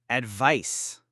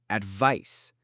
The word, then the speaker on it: advice: Advice. Next, a very important noun, advice. Note the C sound at the end.